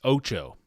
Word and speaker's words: OTXO: I'm going to guess it's Otoxo. Okay. I would have gone with something similar. It's Ocho. Just like, I guess, like the number in Spanish.